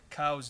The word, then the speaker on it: Coues: to shoot a a Koo deer or a cow's deer depending on how you pronounce it like this I just